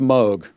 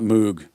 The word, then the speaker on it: Moog: It's pronounced Moog. It's not Moog.